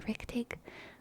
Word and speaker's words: richtig: in German, but it's like Rigtig is how it's spelled, Rigtig, or Richtig, thank you, Richtig, but it's very fun to say, Richtig.